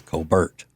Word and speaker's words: Colbert: I've heard that's the original pronunciation of his name in South Carolina is Colbert.